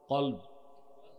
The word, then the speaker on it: কলব: বাম বুকের 2 আঙ্গুল নিচে, কলব। কলব, কালব না। অনেক মৌলবী সাহেব দেখি বলে কালব। কালব মানে কুত্তা। উচ্চারণ কি হবে? কলব।